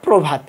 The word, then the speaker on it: প্রভাত: র ফালা থাকে তাহলে আদ্য অ এর উচ্চারণ ওর মতো বা ও কার এর মত উচ্চারণ হবে তাহলে উদাহরণ আমরা লিখেছি দুইটা একটা হচ্ছে প্রথম আরেকটা প্রভাত একটা প্রথম একটা প্রভাত